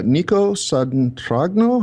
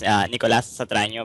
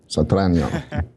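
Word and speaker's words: Nicolás Satragno: Yeah, you pronounced it almost right. It's Nicolas Satraño, but that's okay. Satraño. Closer to that, yes.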